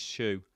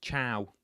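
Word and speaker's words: choux: It's pronounced shoe.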